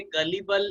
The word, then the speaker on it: gullible: तो अगर आपके लिए गलिबल एक नया वर्ड है तो उसे कहीं ना कहीं पे लिख लें। गलिबल का मतलब होता है, GU है, ग होगा वो उसका प्रोनाउंसिएशन। गलिबल का मतलब होता है